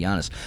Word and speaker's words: Giannis: Uh The Bison says, "Boys, with respect, Yiannis Antetokounmpo to Antetokounmpo is pronounced with a Y sound, not a J sound, i.e. Yiannis.